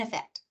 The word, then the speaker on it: effect: So a lot of people are going to say it's the vowel, but often in conversation, the first vowel in those two words gets reduced to a schwa, to that lazy sound.